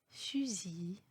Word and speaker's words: fusil: Il y a des exceptions pour les fins des mots où le L n'est pas prononcé. Exemple, fusil, un outil, un fils.